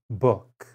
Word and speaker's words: book: in words number one oo as in book as you know o o is also a common letter combination for the sound u as in boot most words written with